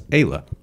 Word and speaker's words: Ayla: pronounce her name and it turns out it's Ayla Ayla girl and so her handle is what Kayla underscore girls so it's a ela underscore gir l yeah I was saying a it cuz it's double L so it's again like you know Hispanic pronunciation yeah I googled it